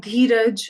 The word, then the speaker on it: Dheeraj: sometimes it might be pronounced as ah. So if we have the name Amit, Amol, Amandeep, it's just a. In Dheeraj, it's just a, right?